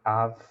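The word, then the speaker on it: אב: aí significa pai e se pronuncia Av pai né ou abre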